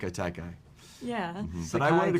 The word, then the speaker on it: Sekai Taikai: do you pronounce this? Each of you, please. Sakatika. No, the Seikai Taikai. Sugiyaki, no.